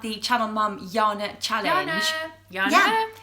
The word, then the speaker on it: Yana: to talk about the channel mom Jana challenge Yana it's Jana too what is Jana I think